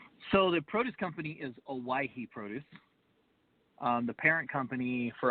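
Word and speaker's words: Owyhee: First of all, how do you pronounce the name of your produce company? So the produce company is Owaihi Produce.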